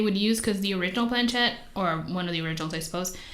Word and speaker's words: planchette: he did um he conducted a planchette seance planchette right that's how you say it yeah so